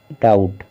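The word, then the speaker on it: doubt: पढ़ना है यानी कि बी यहां पर साइलेंट रहेगा देखिए डाउट देखिए अगर हम बी को हम पढ़ते यहां पर तो हो जाता डाउ ठीक है लेकिन यहां पर डाउट रहे देखिए डाउट को किस तरह से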